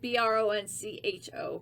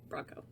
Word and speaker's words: Broncho: but we spelled it b-r-o-n-c-h-o because that was how they spell it in mexico not bronco we used to say we're like broncho but it's bronco this bites but the